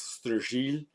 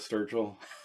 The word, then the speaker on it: Sturgill: It's actually a French Norman name, at least if you believe everything you read. So the old pronunciation, old world, was Sturgy. But of course, no one has said that probably in, I don't know, 200 or 300 years. So I'll just go with Sturgill.